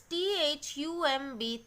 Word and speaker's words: thumb: This is T-H-U-M-B, thumb. Okay. So, in all these cases, I am not pronouncing the letter B.